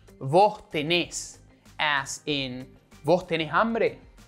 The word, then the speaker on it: tenés: Also, when using vos, in most of the cases, the verb is in a different form, which accentuates the last syllable. So, instead of tú tienes, it's vos tenés, as in vos tenés hambre, tú vienes, vos venís.